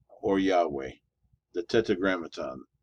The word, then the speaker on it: tetragrammaton: tetragra tetragrammaton. That's how you pronounce that word.